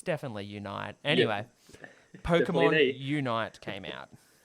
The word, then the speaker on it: Pokémon Unite: I've been thinking about this game for so long, and also, fun note, pronouncing it wrong for so long. Pokemon Unite came out instead of Pokemon Unity, which I was calling it for about a year.